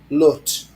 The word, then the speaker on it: Lut: How do you say it? Lut. Lut. You've got to say it with a... You really got to get it up.